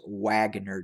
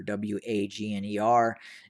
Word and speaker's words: Wagner: a group known as wagner again some people mispronounce it as waggoner w-a-g-n-e-r the group is is is uh is the